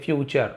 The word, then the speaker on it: future: फ्यूचर moisture है ना? नेचर। तो टी यू आर ई को चर पढ़ा जाता है।